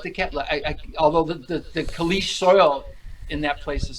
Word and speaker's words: caliche: So caliche is the proper way to pronounce that, and in Arizona, I'm not caliche.